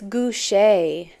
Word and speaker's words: Guchet: And it's okay, it's Guchet. I've been saying it wrong.